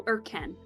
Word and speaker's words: Irken: But Irk, like the English word, and Ken, like the name, so Irken, got it.